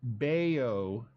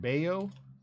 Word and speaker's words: Bello: I did find out Bellow is Bao Spanish pronunciation of Bayo so it's bao Bayo sounds much fun